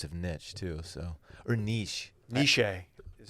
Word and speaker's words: Nietzsche: it in place of niche too so ernest nishi is how it's pronounced nietzsche i'm not a fan of the word dan